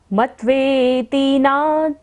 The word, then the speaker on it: मत्वेति: मत्वेति नाथ आधा त है तो इसलिए मैं टच कर कर आगे जाना है। मत्वेति नाथ तव तव संस्तवनम मयीद।